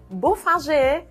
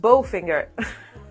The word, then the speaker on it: Bofinger: Yep, you pronounce it Beaufinger, not Bowfinger.